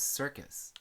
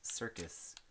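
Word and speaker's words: Serkis: don't know where house circus, which is funny because it keeps making me think of like it's spelled s e r k i s, but it makes me think of circus, you know, like which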